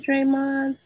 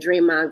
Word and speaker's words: Draymond: not the local Hood draym with a d the D ain't silence you got to pronounce it okay so I was